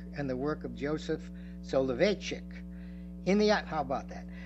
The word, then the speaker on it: Soloveitchik: Soloveitchik, yes, Soloveitchik.